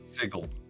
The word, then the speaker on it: Sigil: Is it spelled the same way as sigil? It is, but it's pronounced sigle.